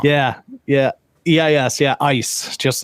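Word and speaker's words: Eis: like Draco her name's ice e i s it's a German name okay um her and Draco and how you pronounce that I was like huh yeah yeah yeah yes yeah ice just like uh so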